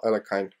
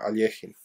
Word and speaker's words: Alekhine: effin bogolubov and alexander alekhine or alejim it depends of your pronunciation so you can see